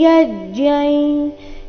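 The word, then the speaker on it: यज्ञं: दैवमेवापरे यज्ञै योगिनः पर्युपासते ब्रह्माज्ञावपरे यज्ञै यज्ञेनैवोपजुह्वति दैवमेवापरे दैवमेवापरे ಯಜ್ಞೈ ಅಥವಾ ಯಜ್ಞೈ ಅನುಸ್ವಾರದ ಉಚ್ಚಾರಣೆ ಇಲ್ಲಿ ನಾಸಿಕಾಯ ರೀತಿ ಬರಬೇಕು. ಕಾರಣ ಮುಂದಿನ ಶಬ್ದ ಯೋಗಿನ ಅವರ್ಗೀಯ ವ್ಯಂಜನ ಯದೊಂದಿಗೆ ಪ್ರಾರಂಭ ಆಗ್ತಾ ಇದೆ.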